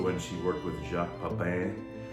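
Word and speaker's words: Pépin: And I used to love her shows, and also when she worked with Jacques Pepin. Pepin, I think is how you pronounce it.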